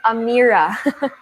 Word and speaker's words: Amira: name amira right yes you're actually pronouncing it correctly it's pronounced amira okay there you go